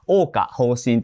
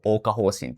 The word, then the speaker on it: 央華封神: Some people say "Oka Hoshin" as one continuous word, and some people split it into "Oka" and "Hoshin." I personally say it as one continuous word, "Oka Hoshin," so I'll go with that.